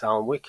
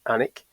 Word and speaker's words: Alnwick: Although a lot of people will look at that and think it's Alnwick, it's pronounced Alnwick.